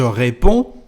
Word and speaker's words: réponds: Je réponds, tu réponds. As you can hear, we don't pronounce the letter D nor the letter S.